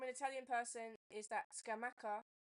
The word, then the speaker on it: Scamacca: So feedback from an Italian person is that Scamacca pronunciation is correct. So in Italian, double C gives a k sound.